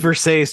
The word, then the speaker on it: Versace: It's pronounced Versace, Jason.